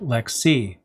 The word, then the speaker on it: LXC: lxc for short and just like lex d lxc is pronounced lex c the lxd is more